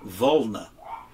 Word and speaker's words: Volna: F 2.8 it looks like it would be pronounced both of three but it's a Russian or Ukrainian for volna okay excellent lens excellent sharpness it's multi-coated uh